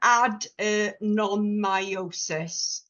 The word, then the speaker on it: adenomyosis: your head around but add non myosis is the way you pronounce it and whereas endometriosis is